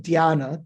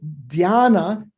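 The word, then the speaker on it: dhyāna: sanskrit the the syllable the dh of diana d h y right d h is one letter in sanskrit it's the aspirated d followed by why there in in poly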